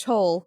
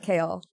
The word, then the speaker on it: Kol: Selena and Kol, which I always read it as Cole. Chol. Chol. His name is Chol. It's not Kale.